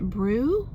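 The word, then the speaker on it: bhreu: fervent and ferment is, I think you pronounce it brew, B-H-R-E-U.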